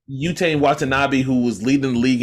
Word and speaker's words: Yuta Watanabe: I feel like Seth Curry underutilized, Yatu Winbe, how you say his name? Yuta Watanabe. Yuta Watanabe, who was leading the league in 3-point percentage